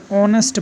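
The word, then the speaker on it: honest: हम देखते हैं ऑनेस्ट इसको हम क्या पढ़ते हैं ऑनेस्ट पड़ते हैं न कि हो है क्योंकि इसमें मैच साइलेंट है और एक साइलेंट इसलिए इसका उच्चारण स्वर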